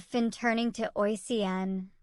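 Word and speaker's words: Oisín: said Finn turning to oen pronounced aen the cuckoo calling from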